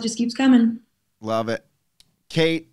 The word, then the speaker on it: Caite: Caite, not Katie. Why is it spelled like that? That's KT.